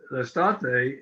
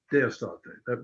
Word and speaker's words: Estate: a minute, but the Estate is, summer is Estate, not Deestate, which is from summer.